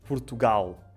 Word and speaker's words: Portugal: E, portanto, dizemos Portugal e Brasil. Mas no Brasil... Portugal, legal. Exatamente. Portanto, é o som, é um W, não é? É um U, é um W, é ali uma mistura.